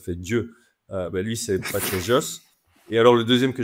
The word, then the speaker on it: Vallejos: dit en commentaire que ça se prononçait B just parce qu'il est argenttin donc le V se prononce B et le l elle se prononce ch c'est un peu comme